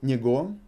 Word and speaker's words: него: Again, written него, pronounced него.